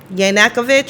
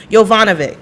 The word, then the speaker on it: Yovanovitch: ambassador to the Ukraine, Marie Yanakovich or something like that. Is that how you spell? Yovanovitch. That's how you say her name.